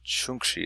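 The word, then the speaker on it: čhuŋkší: So the way I would say that is chinkshi is how you say son, and chunkshi is how you say daughter.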